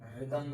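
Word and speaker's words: rhythm: RHYPHM रिदम बोलेंगे इसको, ताल। एच साइलेंट है ना।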